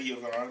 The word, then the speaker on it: Yvonne: Yvonne, I say Yvonne. Yeah. Well, how you pronounce it? Yvonne. No, it's not E. It's I y.